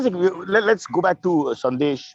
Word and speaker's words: Sandesh: Let's go back to Sandesh, which in Bengali is pronounced Shandesh.